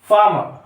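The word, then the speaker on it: farmer: है क्या वहां पर इसको फार्मर बोलते हैं फार्मर फार्मर नहीं बोलते फार्मर फाम जोय आर है ना इसको साइलेंट कर दिया जाता है फाम याद रखना जब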